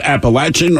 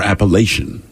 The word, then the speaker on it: Appalachian: the they say these is it Appalachian or appellation I always heard appellation but you say Appalachian but you're from the Appalachian reason region but the problem is most people well you also call it Appalachia right it's Appalachia but people say Appalachian but but it's hard to know because people from a